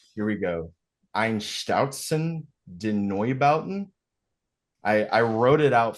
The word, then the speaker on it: Einstürzende Neubauten: Einstautzen den Neubauten. I wrote it out phonetically because if you're one of the guys